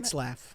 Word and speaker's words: Retzlaff: Retzlaff.